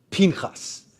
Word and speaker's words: Pinchas: And so if you pronounce his name, you have to say Pinchas, because Pinchas is much more fun to say.